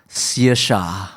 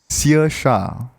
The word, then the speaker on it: Saoirse: This is pronounced Saoirse. Saoirse.